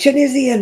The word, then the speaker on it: Tunisian: Oh, I feel like I said it's Tunisian. It's got an I in it.